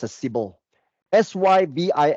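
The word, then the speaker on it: Sybill: remember that there's one tool out there called cble Sy YB i l l right steel. a some people call it sail no it's pronounced as cble Sy YB i l l c.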